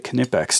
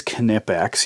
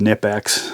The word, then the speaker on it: Knipex: if we add the canipex to the mix and it is canipax you pronounce the k it seems every time